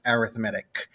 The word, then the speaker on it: arithmetic: The spelling, it looks the same as arithmetic, but it's pronounced arithmetic.